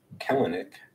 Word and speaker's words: Kelenic: Well, the one thing that I've learned from this Mariners mess that's going on is that I've been mispronouncing this dude's name. It's Kelenic, but still not sold.